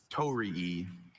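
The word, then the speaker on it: torii: Tori. Are there any alternate pronunciations?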